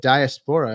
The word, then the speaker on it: diaspora: Like, when you listen to Latin rhythms, I mean, these rhythms are coming from the diaspora.